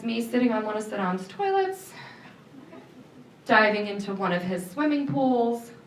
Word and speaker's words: Saddam: go get that man named Saddam Hussein. Not Saddam. At least the younger President Bush was able to pronounce his name correctly, which was a surprise since, he always warned us about nuclear weapons.